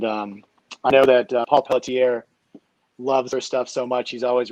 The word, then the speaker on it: Pelletier: do you call them paul poltier paul pelletier is that how you pronounce his name yeah pelletier yeah oh and then here